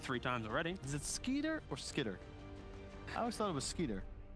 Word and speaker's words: Skiter: times already is it sker or skitter I always thought it was sker you ever watch Doug no mate I would say sker as well because I think skitter would have two T's I don't know I